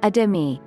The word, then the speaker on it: athame: a variety of ways, though the most common pronunciation is adimi.